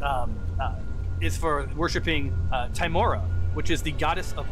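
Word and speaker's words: Tymora: so your statute actually is um is for worshiping uh timora which is the goddess of luck a [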